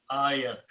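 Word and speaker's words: آية: But when you make the plural, this ya with a fataha changes into the sound of alif. So this becomes aya. Okay, this is just fataha, but this is a long sound. Aya.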